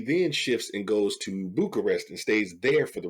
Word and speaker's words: Bucharest: You said Budapest. Oh, I it's, didn't pronounce it? it's Bucharest, I think. Make me second guess myself. It's Bucharest. Oh, Bucharest.